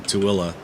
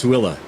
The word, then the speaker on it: Tooele: It's in Tooele. And yes, it is not spelled like it looks. I gotta tell you. It's actually spelled Toole. That's Tooele to us Utahns.